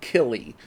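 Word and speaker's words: Kíli: pronounce it because we we have the accent marks on the first syllable this time. So, you could pronounce it Philly and Killy, but I think it's Phy and Keely.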